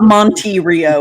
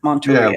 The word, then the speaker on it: Monterey: It's not Monterey, it's Monterey. Yeah, the E is soft.